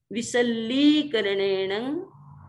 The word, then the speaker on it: विसल्लीकरणेण: तो विसोहीकरणेण फिर विसल्लीकरणेण, ये भी कई बार अशुद्ध बोल दिया जाता है, पर हम ध्यान रखें ली भी बड़ी है इसलिए विसल्लीकरणेण पावाणं कम्माणं निघायनर्थाय निघायनर्थाय ठामि काउत्सर्गम्।